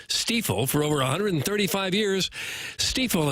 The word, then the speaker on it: Stifel: It's presented by Brown & Crouppen on 101 ESPN from the Stiefel Studios. Hopefully, you know by now, it is pronounced Stifel.